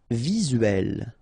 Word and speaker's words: visuel: Visuel. Remember it's E here and L. Uel. Visuel.